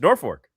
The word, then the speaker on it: Norfolk: It's Norfolk. There's no R in the second half of that word.